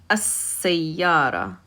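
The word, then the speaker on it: السيارة: So we pronounce it with a shadda on the sin. As-sayyara. As-sayyara is how it's pronounced by itself.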